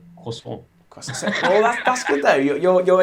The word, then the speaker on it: croissant: And I say croissant there like the Americans. Okay, it's really croissant. The Americans say croissant, and the French say croissant.